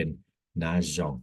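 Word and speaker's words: nageons: เติม ตัว เอ เข้า ไป ก็ จะ เป็น นอง นะ ครับ นอง ซึ่ง กิริยา ตัว เนี้ย เรา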